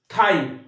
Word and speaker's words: thigh: দেখো থাই, THIGH, থাই, থাই, থাই। তাহলে কি জিএইচ আছে? না, জিএইচ সাইলেন্ট রয়েছে।